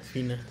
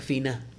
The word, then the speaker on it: Fianna: Dato cultural para los fanáticos de Werewolf y Apocalypse, según dicen mis fuentes irlandesas, no se pronuncia Fianna. Fina. Se pronuncia Fina.